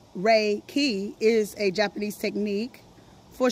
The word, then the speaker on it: Reiki: and read chapter one Reiki defined Reiki pronounced Ray key is a Japanese technique